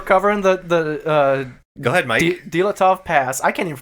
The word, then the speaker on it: Dyatlov: Dyatlov. Nope. Dyatlov.